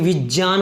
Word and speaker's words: विज्ञान: अगर इसको बोला जाए ना विज्ञान है शुद्ध उच्चारण, लेकिन प्रचलन में क्या आ चुका है, गे, विज्ञान क्या आ चुका है, गे आ चुका है। इसका ये क्या हो गया, लोक प्रचलन में आ चुका है दोस्तों, ये लोक प्रचलन में